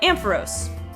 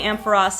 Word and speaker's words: Ampharos: right to me ampharos then I heard people starting to say am for us and I didn't think it sounded right finally when i discovered the name origin of ampharos it made more sense pharos being the greek word for lighthouse i believe it is and okay i can give you that amp for us but I still when